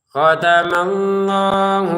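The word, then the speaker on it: خَتَمَ اللَّهُ: Khatamallahu kita panjangkan ini lamnya 2 harokat. Khatamallahu begitu. Hu-nya ini pendek ya. Jadi jangan kita baca panjang khatamallahu ala. Jangan dipanjangkan di sini karena nggak ada wawunya.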